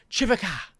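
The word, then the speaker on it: Khvicha: But I can pronounce it perfectly. It's Chivaka Kvaratskhelia.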